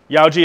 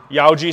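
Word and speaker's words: Yauji: some cool things yaoi Yoji is spelled y a u j i Yoji single bevel let's talk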